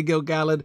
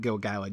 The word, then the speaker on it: Gil-galad: talking about this poem I say gil-galad because it's very clear from the meter you have to read it gil-galad you just can't not